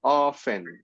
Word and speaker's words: often: always always usually often you don't pronounce the T right you only say often sometimes hardly ever hard